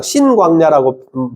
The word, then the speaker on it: 신광야: 앞에 있는 거는 신 단어라고 그니까 신이라 신광야라고 발음하는게 맞고요. 뒤쪽에 있는 것은 오히려 친 친광야라고 발음하는게 오히려 더 많습니다.